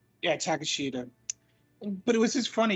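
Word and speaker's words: Takeshita: and i can't i have a hard time pronouncing his actual thing old take sheeta i believe it's takashida yeah takashita but it was just funny because he came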